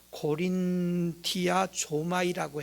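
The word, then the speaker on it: κορινθιάζομαι: 그 단어를 발음을 어떻게 하는가 하면 고린티아 조마이라고 해요.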